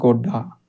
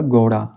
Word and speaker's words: घोड़ा: शब्द लिखता हूं घोड़ा अगर मैं बिंदी नहीं लगाऊं यहां पे तो इसका जो प्रोनंसिएशन है जो उच्चारण है वो क्या हो जाता है गलत हो जाता है जैसे यहां पर घोड़ा है किंतु बिंदी नहीं लगाईए तो इसका उच्चारण किस प्रकार से किया जाएगा गढा ड की साउंड देगा ना कि ढ की अगर बिंदी लगा देंगे यहां पे तो यह किसका उच्चारण हो जाएगा घोड़ा इसी प्रकार से बच्चों